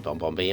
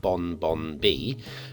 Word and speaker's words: BonBonB: Like if you think the last two letters in my name are N and B, BonBonB. How is that pronounced? If you've never heard my name said before, well, the word bomb, B-O-M-B, ends with an M and a B. So is BonBonB BonBonB? No, it's not.